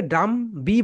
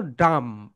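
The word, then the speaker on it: dumb: এরপরে দেখো ডাম, অনেকে ডাম বি বলে, কিন্তু রাইট প্রনাউন্সিয়েশন কি বলতো? ডাম মানে বোবা।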